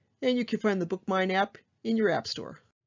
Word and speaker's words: BookMyne: It's called BookMine, and it's spelled a little differently. It's BookMyne. And that will give you direct access to StarCat through your mobile device, and you can find the BookMine app in your app store.